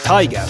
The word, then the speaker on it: Tiger: As for the people upset that I'm now saying Tiga instead of Tiger, all pronunciations are attempted in their local language.